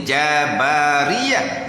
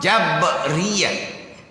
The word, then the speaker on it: Jabriah: qadariah hak ni jabriah ada Jabariah ejaan baris sebenar jabriah f d ni ha tapi ha huruf ba tu huruf ba tu asalnya Bari mati Bu baris atas jabriah jabrun jabriah kita kita kita sebut Jabariah sebab Naki musyakalah nak